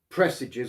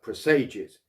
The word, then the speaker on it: presages: line of each paragraph pressages or presages no one can quite agree on the correct pronunciation of this these days i prefer presages because like presagio in the italian it has a more melancholy ring to it but